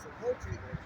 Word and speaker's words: sepulchre: You know, it was I think it's called sepulchre. Yeah, I was saying it wrong. It's a sepulchre, and the stone that was in front of the entrance was moved.